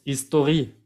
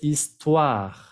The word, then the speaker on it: histoire: L'histoire, no vayan a decir con muchos de mis alumnos history, eso es en inglés. Aquí es histoire, histoire, ¿ok? La R se pronuncia.